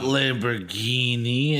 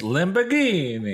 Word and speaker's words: Lamborghini: like the garage Lamborghini not Lamborghini it's Lamborghini Lamborghini the garage was empty